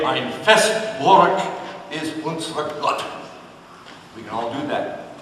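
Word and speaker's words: Ein feste Burg ist unser Gott: W's are B's, EI's are pronounced I, and it's a little bit more guttural. So if we want to say that, we say, Ein Festburg ist unser Gott.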